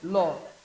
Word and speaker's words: law: Law. The W there is not pronounced.